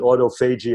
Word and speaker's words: autophagy: Because of that process of, let's call it, because most people pronounce it autophagy, I'll pronounce it that way.